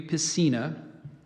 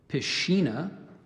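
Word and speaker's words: piscina: full of fish and there's a couple alternate pronunciations I gave you piecina there's also pashina and pisina um Christina p-i-s-c-i-n-a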